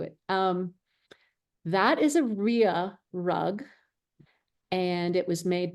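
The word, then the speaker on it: rya: the front and so it's like a shag rug it's got a lot of texture to it um it's pronounced Ria Ria my mother-in-law taught me to say Ru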